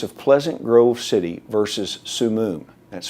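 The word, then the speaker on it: Summum: in the case of pleasant grove city versus su moon that's spelled s-u-m-m-u-m it was a group much like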